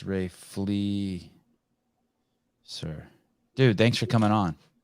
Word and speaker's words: Fleser: Yes, Fleser, but everybody says Fleser. Ray No. Make sure he gets it right. There's nothing Sevan likes more than name pronunciations. Yeah, Ray Fleser. But a lot of people just throw an H in there because they want to call you Ray Flesher.